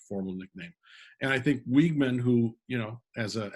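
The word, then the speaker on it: Weeghman: put in lights um was it pronounced wigman it was wigman wigman park um and charlie wigman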